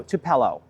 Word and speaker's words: tupelo: Another thing that we learned about with with what needs some more water than we expected the beautiful tupelo tree or tupelo no tupello.